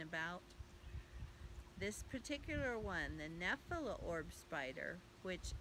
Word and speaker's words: Nephila: This particular one, the Nephila orb spider, which I'll spell that for you in case you want to look this up. It's N-E-P-H-I-L-A.